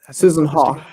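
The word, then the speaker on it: Haack: Susan Hawk. Susan Hawk is the way he pronounced it.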